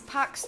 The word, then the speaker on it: Paax: And that is Pax Tulum, is spelled with two A's.